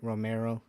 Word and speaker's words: Romero: Romero.